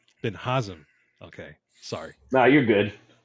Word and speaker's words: Binhazim: my good buddy bin bazim is that how you pronounce it no but nice try I like it all right how do you pronounce your last name B sorry Ben hazam okay sorry no you're